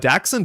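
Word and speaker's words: dachshund: Uh but daxund is like the way that people say in the UK. Uh but dashund is the way we say it. I'm assuming dashund is more like dramatically accurate.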